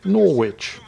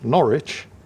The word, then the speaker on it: Norwich: on there it looks like that should be pronounced Norwich and that of course is the way at